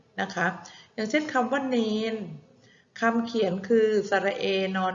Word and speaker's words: วาฬ: ว่า วาฬ นะ คะ คำ ว่า วาฬ เด็ก ๆ เห็น ไหม คะ วอแหวน สระอา ตัว สะกด คือ ตัว รอ chula นะ คะ วาน เรา เขียน รอ จุฬา เป็น ตัว สะกด นะ คะ แต่ เวลา เรา อ่าน เพราะ อ่าน นอ หนู เป็น ตัว สะกด วอ อา นอ วาน นะ คะ